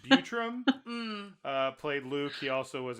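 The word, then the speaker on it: Buttram: It's spelled butt ram, but I'm going to assume it's Butram.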